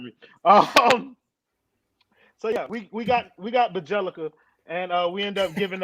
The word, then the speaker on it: Bjelica: Bjelica. There you go. My phone was fucking up, so I didn't know if y'all heard me. So yeah, we got Bjelica, and we end up giving up Mo Harkless and Chris Silva.